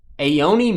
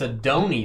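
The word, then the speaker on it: Adonai: the uh sparkly snake aeoni you spell that a-o-o-n-a-i Mitchell Mitchell oh it's a dhoni that's a d oh it's yeah uh Georgia Bulldogs it's a dhoni Mitchell that is not a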